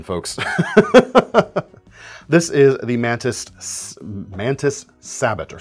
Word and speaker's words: Sabot: This is the Mantis Sabot, or Sabot, it would be, the French pronunciation.